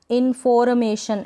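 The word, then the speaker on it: information: अब यहाँ पर ये जो आर है ना, इन्फॉर्मेशन, ऐसे नहीं बोलेंगे इन्फॉर्मेशन, क्योंकि आर यहाँ पर आधा ही, हाफ ही प्रोनाउंस हो रहा है, मतलब इसका जो साउंड है थोड़ा ही आना चाहिए, इन्फॉर्मेशन।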